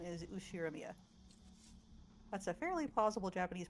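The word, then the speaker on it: Ushiromiya: Okay, but my family name is Ushiramia. That's a fairly plausible Japanese pronunciation so far.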